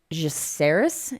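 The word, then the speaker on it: Jeceris: Uh it's the pronounce that word Miranda for me. Jeris Invitational.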